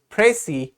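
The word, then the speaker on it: précis: pronounced with a silent s here is the pronunciation key or the word that you can use to say it so it's prey or pressy all right now here is a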